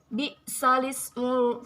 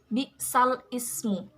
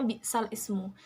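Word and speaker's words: بئس الاسم: ba'dal iman, pada lafaz bi'sal ismu. Pada bacaan Al-Quran umumnya lafaz bi'sal ismu, membacanya bi'sal ismu. Namun karena menurut Imam Hafs lafal tersebut dibaca naql, maka bunyinya menjadi bi'salismu. Tidak bi'sal ismu, tetapi bi'salismu.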